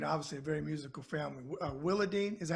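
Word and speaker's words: Willadeene: Willadine, is that how you say her name? Willadine? Willadine.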